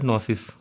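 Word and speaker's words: gnosis: Greek word है knowledge इसका जो वर्ड है वह है नोसिस नोसिस पढ़ सकते हैं या जी साइलेंट है तो नोसिस जिसका मतलब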